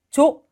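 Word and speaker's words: 女: 그래서 여자의 음독은 조, 단음으로 한 박자, 조로 발음해 주시면 되는데 일단 1번, 2번은 아닌 것 같아요.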